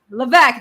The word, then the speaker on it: Levesque: Jane Levesque. Levesque, that's right. No, the S is silent.